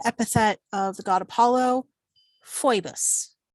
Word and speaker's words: Phoebus: of the god apollo phoebus or poibus technically but fuebus is fine to say um the masculine form